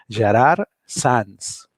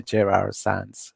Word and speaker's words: Gerard Sans: so easy to pronounce my name sounds like this gerard sans so that's one way of saying it otherwise you can use my english name which is a jrr sans which is also fine